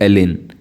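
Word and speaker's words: Elgin: रॉय थे Lord एलिन जी silent रहता है इसको प्रोनाउंस करते हैं एलिन कैसे एलिन ठीक है इनका कार्यकाल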